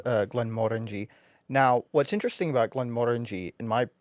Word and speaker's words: Glenmorangie: No, Glenmorangie also has a Oh, Caribbean cask.